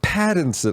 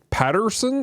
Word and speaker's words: Pattinson: like mispronouncing freaking robert pattinson i kept calling him robert patterson it's a patton pattin not peterson uh so i'm sorry